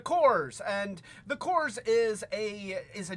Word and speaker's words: Corps: And And you know, I always wanted to call them the Corpse because you know, Cores is spelled with a P, but they're the Cores, and the Cores is a GI Joe knockoff.